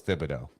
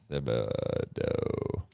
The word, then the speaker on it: Thibodeau: He says, I've always thought it was pronounced with a hard T. Last night, BA was pronouncing it with a hard T, but Van Gundy was pronouncing it with a TH. Please sell this. I heard that. I did not notice that. I thought it was Thibodeau.